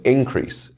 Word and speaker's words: increase: In those cases, the noun will have its word stress on the first syllable, and with the verb, the stress will fall on the second syllable.